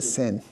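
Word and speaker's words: שׂ: When it's on the left side it's a sin. Okay. Shin sin shin sin shin. So this uh when it's a sin, it is an s sound just like a sam.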